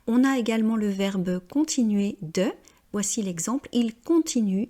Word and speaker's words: continuer: C'est bien le son et, continuer, décider, et non pas décidaire ou continuaire comme je l'entends fréquemment parce que les personnes ont tendance à vouloir prononcer toutes les lettres à l'anglo-saxonne.